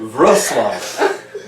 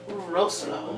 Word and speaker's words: Wrocław: to Wrocław. That is correct, Wrocław. Roslo. But we were calling it Wrocław.